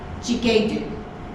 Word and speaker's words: Ghi-ga-u: Ghi-ga-u.